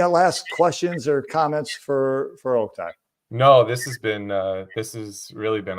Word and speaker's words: Oktay: All right, my name is pronounced Oktay. Oak as in tree, tie as in tie.